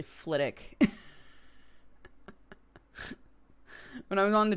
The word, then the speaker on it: Flitwick: it is it's like Flitwick is actually flit ik when I was on